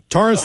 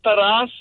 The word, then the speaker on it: Taras: Taurus like the bull or like the car? I guess it was one and the same. It's spelled Taras. It's pronounced Taras. It's a Ukrainian name.